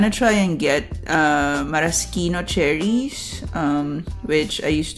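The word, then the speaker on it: maraschino: have been pronouncing as Marashino cherries for the longest time, but I looked it up and if you want to lean Italian, it's Marosino.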